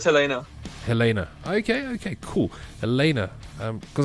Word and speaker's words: Helena: Is it Helena or Elena? How do you guys... Elena? How do you pronounce Yeah, it? it's Helena.